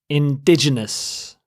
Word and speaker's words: indigenous: next word is indigenous indigenous you stress the second syllable ditch indigenous if a person